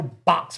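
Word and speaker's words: Beaux: They There's a road here that's spelled b e a u x Mountain Road. I was but I first I I was I seen Bow Mountain Road BUT IT'S BOX MOUNTAIN ROAD.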